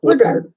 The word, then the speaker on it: Woodard: Woodward, excuse me, am I saying it right? Yeah, Woodward.